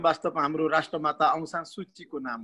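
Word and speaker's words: Suu Kyi: हामीले सुची भनेर उच्चारण गर्छौँ, उहाँको वास्तविक नाम पनि सुची हो। तर यो अङ्ग्रेजीमा लेखेर उच्चारण गर्दाखेरि चाहिँ सुकी हुँदो रहेछ। अनि त्यहाँबाट अहिले अन्तर्राष्ट्रिय स्तरमा चाहिँ उहाँको नामलाई सुकी भनेर अब उच्चारण गरिन्छ। तर बर्मिसहरूले उहाँ आफैले पनि अनि हाम्रो राष्ट्रभरि चाहिँ सूची भनेर नै उच्चारण।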